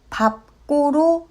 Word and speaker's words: 밟고: 밟고는 밟고로 발음합니다.